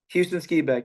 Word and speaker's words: Houston Skiback: I wanted to ask you about one more training partner, hubby, Houston Skiback, right? Uh-huh. Did I pronounce it right? Houston Skibeck, yeah.